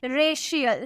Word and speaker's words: racial: हैं, जैसे कि RACIAL, यहाँ पे आपको सी के बाद आई ये देखने को मिला ना तो इसका प्रोनाउंसिएशन हम कैसे करेंगे, शौ में करेंगे। हम क्या बोलेंगे, रेशियल, शौ में प्रोनाउंस करेंगे, ठीक है।